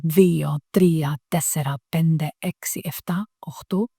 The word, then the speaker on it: τρία: And some students say eno, dio, trie. You know, so the last vowel is the problem, but you can remember 3 vowels, right?